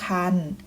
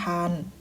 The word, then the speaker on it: ครรภ์: นะ คะ เช่น เคย นะ คะ ให้ ออก เสียง เป็น อัน ยก ตัว อย่าง เช่น ชัก กัน อ่าน ว่า ชัก กัน สวรรค์ อ่าน มา ว่า สวรรค์ ตั้ง ครรภ์ อ่าน ว่า ตั้ง ครรภ์ มี การ อ่าน คำ